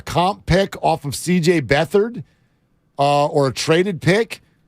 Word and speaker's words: Beathard: them was for CJ beat hard which by the way I would pronounce it beathard too right if I spelled my name beat hard yeah it's